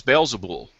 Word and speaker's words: Beelzebul: Well, it depends on how it's spelled in the translations. But the Aramaic is Beelzebul.